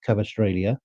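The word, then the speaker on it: Kvaratskhelia: I think he had a bit more trouble with Cavastrellia. That's the right way to pronounce his name.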